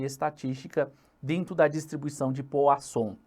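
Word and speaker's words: Poisson: dentro da distribuição de Poa som é isso mesmo escreve-se poiss som só que a pronúncia é POA som bacana e a questão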